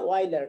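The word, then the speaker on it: Euler: এটা তুমি বলতে হবে, উচ্চারণ হবে অয়লার, ঠিক আছে?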